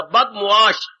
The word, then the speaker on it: बदमुआश: बदमाश शब्द नहीं होता, बदमुआश, बद मैंने बुरा, मुआश मैंने व्यवहार, जिसका व्यवहार बुरा हो, जिसका आचरण बुरा। बदमाश शब्द बोलती है पर ये उच्चारण गलत है, बद मीम और एन दे के आगे शीन है, बदमुआश अर्थात जिसका आचार व्यवहार गंदा हो, तू बड़ा बदमाश है,